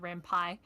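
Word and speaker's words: Ren'Py: That's also how I pronounce it. That's how it makes sense in my brain. Rampai is probably correct because I mean the P is Python. So that's probably a better way of saying it.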